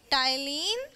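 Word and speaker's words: ptyalin: यह इनुलिन है। इसमें P साइलेंट है, बेटा। ठीक है?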